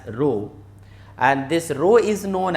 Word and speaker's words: rho: a this constant row it is actually pronounced as rho and this rho is